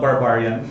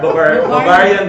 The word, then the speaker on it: Bavarian: I think just like any other donut company, but our crew members would like to pronounce it differently. Okay. They call it Barbarian. But it's a Bavarian donut.